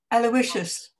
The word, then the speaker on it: Aloysius: pronounce this alois aloi alois how do you pronounce this please francesco aloysius sagan aloysius aloysius all this is aloysius okay